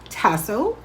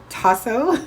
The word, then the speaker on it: tasso: smoked Cajun ham called tasso or tosso if I'm pronouncing it right anyways I did some